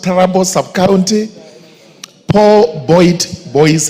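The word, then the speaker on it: Tarbaj: Troub sub county at it's pronounced terabbo subc county poor boy boys high school at 8:00 a.m.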